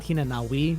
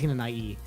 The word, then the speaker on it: Hinanawi: So, Tenchi Hinanai, that is pronounced just E at the end. It's not Hinanawi, it's Hinanai.